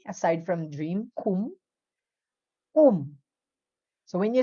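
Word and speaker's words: 꿈: You pronounce it as strong but not overacting. Walang dapat H na sound. Okay, dapat strong. Ku. Kum. Kum. Strong but not aspirated.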